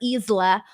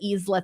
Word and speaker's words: Isla: And so it was really funny because I was telling her that I was calling her Isla on the show, and she was like dying of laughter over the Isla thing.